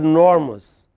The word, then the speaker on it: enormous: Enormous has three syllables. E, nor, must, but because the stress is on nor. So, E is hardly heard. The listener hardly heard E.